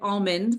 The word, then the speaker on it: Auman: Almond. Almond. Dang it. It's like almond, but without the D. Hmm. Well, without the L too, technically, but it sounds like it.